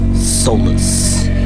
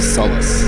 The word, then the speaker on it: Solis: Fort soless or Solus I believe it's actually pronounced now as you can